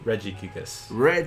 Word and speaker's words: Regigigas: It grabbed on visually, and that's, how do you pronounce this one? Regigigas.